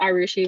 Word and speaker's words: Arushi: That's Arushi, rhymes with sushi.